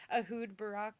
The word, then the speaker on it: Ehud Barak: um, I mean Ahood, he's Ahood Barak.